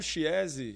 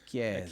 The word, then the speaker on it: Chiese: Eu falo Chiesi, chinelo com maionese, para as Com pessoas maionese. associarem, mas a pronúncia em italiano É Chiesi, Chiesi.